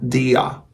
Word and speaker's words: der: Su artículo, este artículo que está delante, que se escribe der, se pronuncia dia, dia, dia, ¿ya?